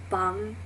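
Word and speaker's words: 빵: But then you have like bang, which is bread. It's double B A N G. So the double B is a strong consonant sound, so it's ba, bang, like a hard B.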